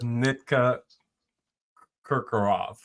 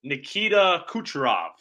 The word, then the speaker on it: Nikita Kucherov: I would imagine you pronounced it incorrectly. I know who you're talking about, though. It's Nikita Kucherov. I don't know if that's how you pronounce it either, but that is who it is.